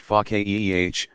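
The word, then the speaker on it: فقيه: feek understanding such a scholar is pakya pronounced FACA eeh one who understands deeply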